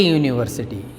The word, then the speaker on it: university: University, though the word begins with the vowel, but the pronunciation goes as you, by like. So, he studies at a university.